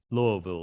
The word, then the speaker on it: Louisville: Louisville is the proper way to say it.